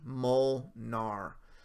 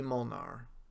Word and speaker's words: Molnár: guy for future reference my name is pronounced C molnár C Mon are oh I got you i watch a lot so get used to it see Molnar I got you buddy